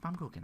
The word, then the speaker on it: Baumkuchen: And he's like, yes, it is pronounced Baumkuchen.